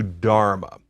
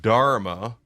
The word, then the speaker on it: dharma: For example, you may hear me say dharma, and then in another context I will say dhamma. That difference is deliberate. Dharma is a Sanskrit term.